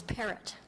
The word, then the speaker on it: Parrot: up is Miss par perro or parrot and how how do you say your last name um it's parrot parrot yeah thank you very much